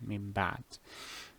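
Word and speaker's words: مِنْ بَعْدِ: Just in case I cannot find it because it is abundant in the Quran, min ba'd. Here you will change, as the name implies, change the noon to what? To a meme.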